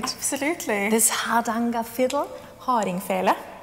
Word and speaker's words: Hardingfele: Hardingfele. Hardingfele. Yeah, exactly. Very good pronunciation.